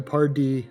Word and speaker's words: Pardee: I've heard everything, but it's actually Pardee with the emphasis on D.